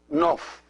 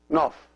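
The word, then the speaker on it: ⲛⲟϥ: Oh fie the N Oh F and they're pronounced nuff nuff the second syllable is re and consists of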